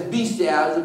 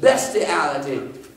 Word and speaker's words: bestiality: A lot of people pronounce that as bestiality, but bestiality.